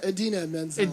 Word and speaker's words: Idina Menzel: Menzel? Idina Menzel.